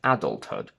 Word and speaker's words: adulthood: Th is pronounced as t, or sometimes with a glottal stop instead of t, in compound words. Adulthood is a combination of adult and hood, so we don't say adulthood, but adulthood. Knighthood, sweetheart.